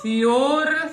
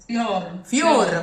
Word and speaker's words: fior: Fior, Fior, closer to a U.